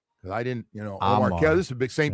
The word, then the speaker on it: Omar: His name is pronounced Amar.